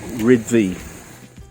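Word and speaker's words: Rhyd Ddu: of this train station i believe it's rid thee did i say right yep that's pretty good it's actually a native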